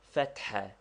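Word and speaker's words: فتحة: Fatha, to be pronounced with a roughly aspirated ha, which we have indicated by a dot under it, and which is somewhat like HH or doubly strong H.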